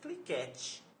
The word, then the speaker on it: cliquet: Escreve-se cliquete, é parquete, mas a pronúncia é cliquet, né?